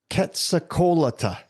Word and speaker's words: Quetzalcoatl: And the beast, and I have to use a phonetic to see how to pronounce it. It's very difficult. Quetzalcoatl.